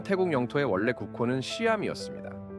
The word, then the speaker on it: Siam: 현 태국 영토의 원래 국호는 시암이었습니다. 보다 정확한 발음은 사이암에 가깝습니다만 샴쌍둥이 아시죠?